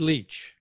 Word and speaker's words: Leitch: David Leitch. David. Okay, Leitch. Is that how you say it? It is, yeah. David Leitch. I know the spelling throws you off.